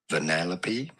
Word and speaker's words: Vanellope: The English pronunciation is as Vanellope. Vanellope. Vanellope.